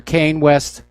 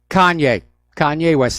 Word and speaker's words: Kanye West: do you remember I'm not sure how to pronounce his name Kanye West or Kayne West Kanye Kanye West thank you Kanye West he's been